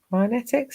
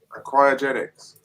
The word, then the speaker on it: cryogenics: I can't remember how you pronounce it. Cryonetics? How do you say it? Were you frozen? Cryogenics.